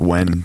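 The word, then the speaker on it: Oiun: It's O-I-U-N, but it's pronounced just like when, W-H-E-N, or okay. I guess the phonetic would be W-E-N, but it's whatever.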